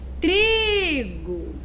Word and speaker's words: trigo: Eu vou chamar, olha só, trigo. Qual foi a sílaba que eu me prolonguei um pouco mais? Foi na primeira sílaba, né? Então, trigo. A sílaba mais forte é o tri.